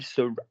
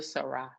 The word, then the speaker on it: sera: Which one rhymes with a? Ray, ra, or ron? Ra. Thank you. So he will be il sera. Il sera.